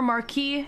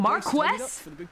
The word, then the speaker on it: Marquess: is typically referred to as an earl or marquis if he holds a secondary title. I prefer dookie. Or Marquess. Marquess? Man, you'll be done in a jiffy. Just getting the Marquess?